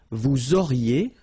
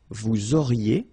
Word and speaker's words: auriez: Vous auriez, liaison here, and then a Z will go like E. Vous auriez, okay, and the last one.